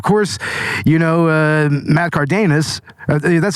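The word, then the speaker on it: Karedas: amazing and of course you know uh Matt cardus that's how you pronounce it cardus Matt katus Kus matus is like he it's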